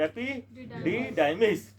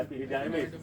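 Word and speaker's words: epididymis: क्या इसके कैसे प्रोनाउंस करोगे? एपिडिडाइमिस, ठीक है, एपिडिडाइमिस, ठीक है।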